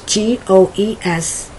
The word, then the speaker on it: goes: in english the pronunciation the g-o-e-s is pronounced goes like g-o-z more like o z if you're doing it